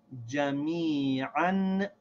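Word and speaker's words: جميعا: So we still pronounce this as if there's no alif here. This alif is silent. We still pronounce this ayn with the two fathas as an, jami'an.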